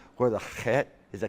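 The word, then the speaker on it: חית: When I say chet, to give it really a lot of wind, chet, and then put the k, chet, chet. So you hear the k, chet, but you got the chet.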